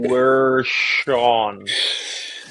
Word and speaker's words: Guerschon: So no, yeah, Guerschon. You pronounce it.